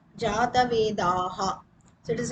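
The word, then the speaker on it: जातवेदाः: Jatavedas is the main word. But when we pronounce it, the word will be Jatavedaha.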